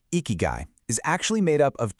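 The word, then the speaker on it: 生き甲斐: So, the word icky guy, you say it like icky guy, is actually made up of two different Japanese words.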